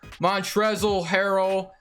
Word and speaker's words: Montrezl Harrell: Montrezl Harrell, I know is actually how you say it.